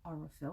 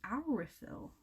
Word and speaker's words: Aurifil: also found out is not called aurifil that's not how you pronounce it it's our refill it should be our refill so yeah it's a combo ocean of their name and filo which is thread in Italian things that they took